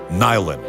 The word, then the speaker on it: nylon: noron ou newon e depois de muita discussão sobre a maneira como deveria ser pronunciado lá chegaram a um consenso e ficou nyen Existem algumas teorias que